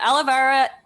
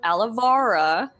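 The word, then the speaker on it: Alovara: her the Reaper okay you said it better yep yeah aloe vera is said it wrong myself a lovara is the reaper which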